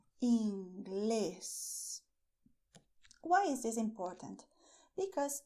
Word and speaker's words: Inglés: And the way to pronounce is stressing Inglés. Why is this important? Because if you do not stress inglés, if you say English instead, you are not saying